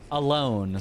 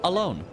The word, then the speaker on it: Alonne: Alonne Don would actually be a different It'd be odd on. It would be the same sound for both of them. So I guess they pronounce it alone. At least that'd be the closest English pronunciation.